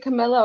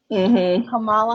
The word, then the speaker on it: Kamala: talking about camilla harris is it camilla or kamala kamala kamala kamala harris and joe biden and